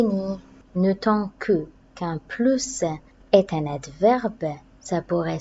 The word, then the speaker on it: plus: ces locutions contiennent plus elle restera deux semaines au plus je vais prononcer veut s pourquoi c'est la locution au plus pressé à la fin de la phrase rien de plus amusant coussin là normalement on prononce pas le s avec la loue qui